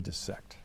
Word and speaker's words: dissect: to pronounce dissect correctly cuz uh a vowel follow followed by double s is short and when they pronounce